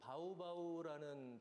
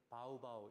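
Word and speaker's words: Baubau: 상당히 세계적으로 희귀한 말소리인데 그 예를 들어서 그 바우바우라는 도시는 원래이 지역 사람들은 바우바우 이렇게 안 하고요 바우 바우 이렇게 발음을 합니다 인도네시아 사람들이 이것을 로마자로의 적을 길이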